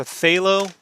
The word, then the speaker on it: phthalo: In watercolor terms, they call this a phthalo. PH, they spell it phthalo with the PH, by the way.